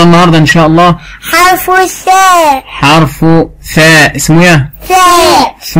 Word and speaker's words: ثاء: ما نخرج فيها لساننا، لازم نطلع لساننا في حرف الثاء. ثاء ما ينفعش ثاء، لو نطقت من غير ما اطلع لساني هيبقى سين، لكن اطلع لساني يبقى ثاء.